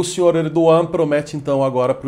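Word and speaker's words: Erdoğan: O pessoal pronuncia o nome dele como Erdogan, mas a pronúncia correta em turco é Erdogan, o nome dele.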